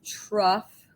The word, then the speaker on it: trough: of a word but this is pronounced trough with kind of an f sound at the end right uh is the